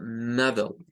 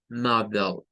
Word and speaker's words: model: Esta es bien curiosa porque esa E que está ahí no suena. Si ustedes se fijan, es como que se perdiera la E que está entre la D y la L. Y ahí solo suena L. Lo que sucede es que la L ya lleva un sonido como de E al principio.